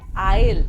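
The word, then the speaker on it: aisle: होती है आयल seat इसमें ए साइलेंट है इसलिए इसे कहते हैं आयल मुझे कोने वाली सीट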